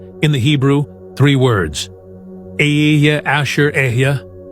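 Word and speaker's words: אשר: Aya asherya. The word asher pronounced ashare means who, which or that.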